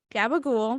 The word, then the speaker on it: Gabagool: concert with performances by gabagool you're lying but it's spelled like Gaba and then ghoul like the you know look at the ghosts wow these people I'm